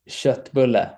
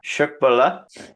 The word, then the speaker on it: köttbulle: Say köttbulle. Köttbulle?